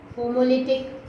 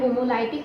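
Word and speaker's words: homolytic: एक होता है होमोलिटिक बॉन्ड फिजन, होमोलिटिक या फिर होमोलाइटिक, कुछ भी आप प्रोनाउंस कर सकते हैं इसको।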